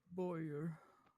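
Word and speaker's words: bowyer: Spell that word for me and then define it. B O W Y E R. I make bows. Oh, you didn't think I said voyer now, did you?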